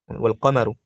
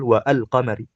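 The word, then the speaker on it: والقمر: Wal qamar hakala. La naqul wa al qamari hakala.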